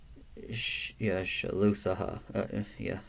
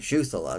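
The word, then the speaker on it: Shuthelah: And these are the descendants of Shaluthaha, of Shuthalah. Sorry, Shuthalah. There you go. Of the Shuthalahites. That's how you say it.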